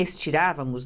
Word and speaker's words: estirávamos: Em estirávamos, não é a última, não é a penúltima, é a antepenúltima.